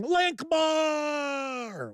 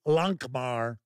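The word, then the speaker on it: Lankhmar: Pete Strakolich says, "Greetings, gang, Lankmar!" Or as I like to say, Lankmar. Yeah, I'm pretty good with my Fritz Leiber pronunciations.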